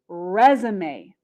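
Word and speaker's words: résumé: little bit different the first word here is resume resume and a resume is a noun in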